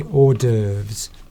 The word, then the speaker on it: hors d'oeuvres: You don't pronounce the H. You're supposed to say hors d'oeuvres.